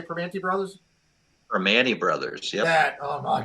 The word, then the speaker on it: Primanti: Primanti Brothers.